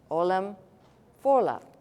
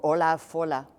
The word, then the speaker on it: Ollam Fodhla: Ollam Fodhla. Or if you're going to pronounce the letters that are not supposed to be pronounced, Fodhla, right?